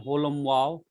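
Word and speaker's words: holam vav: And it is a little long sound than lesser holum. Like in board.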